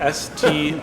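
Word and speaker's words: Stjørdal: I don't speak Norwegian, but I think it's pronounced Stjordal. Don't quote me on that. Get on that, Clark. How do you pronounce that? Stordal.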